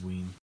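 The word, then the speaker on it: Wein: We haven't been mentioning the colorist in this series, and it's Glynis Ween or Wine. I'm not sure how you say it. It's Ween. It's Ween.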